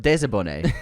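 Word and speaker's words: désabonné: Pronounced like Lisa Bonet, but Desabonné.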